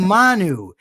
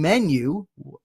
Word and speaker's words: Manu: Nobody's saying we're saying Manu. We may be getting it wrong, but for God's sake, we're not saying menu.